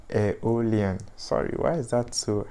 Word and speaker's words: Aeolian: be learning the locrian the mixolodian and the aerial aeolian sorry why is that so hard to pronounce all right so that is to say